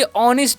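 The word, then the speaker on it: honest: क्या पढ़ते हैं बी ऑनेस्ट पढ़ते हैं यहां पर नेस्ट नहीं पढ़िए यहां पर एच साइलेंट होता है ठीक है तो बी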